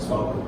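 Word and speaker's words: SPARQL: Well, on this will be less debate on how to pronounce it. Sparkle.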